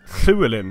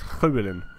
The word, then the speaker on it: Lleweling: But Lleweling is so it's Lleweling, it's not actually Lleweling, it's Lleweling. It's like you're saying L but you're spitting it out, Lleweling, if you're pronouncing it in Gaelish or Gaelic.